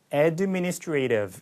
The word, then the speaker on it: administrative: 이게 미국 영어의 좀 특징이죠. 영문 영어는 오히려 제1강세를 제외하고 전부 다 애매모음 처리를 이렇게 이런 발음을 바뀌었는데 모음들이 미국 영어에서 이제 제2강세가 가면은 자기 원래 음가대로 색깔이 나는 경우가 더 많아요.